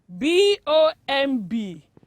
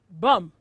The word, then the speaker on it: bomb: it is pronounced as bum yeah pronounce it with me bomb yes not bomb the last b is always silent so it is pronounced